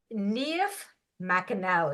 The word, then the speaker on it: Niamh McAnally: very very special guest today her name is neif Mell did I say that right excellent very good pronunciation well I was they sent me secret